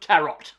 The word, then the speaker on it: tarot: the new disposable Horror by the name of tarot okay now it's pronounced tarot the French this is actually based